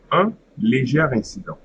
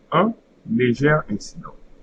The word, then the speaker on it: un léger incident: starts with a vowel, then instead of saying A, because of the liaison, you are going to say that you are going to read the E. So, un léger incident. Un léger incident.